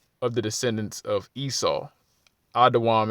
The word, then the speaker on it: Edom: the descendants of Esau adaam is how you say Edom in the lwang kadash okay uh verse 31